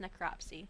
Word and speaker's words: necropsy: It's pronounced necropsy.